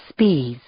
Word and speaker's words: Spies: One of them was a teacher named Auguste Spies. That's how he pronounced it.